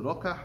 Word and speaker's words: Rokeach: And the Sefer Rokeach, or as Moshe pronounces, the Rokach, I think it's over there.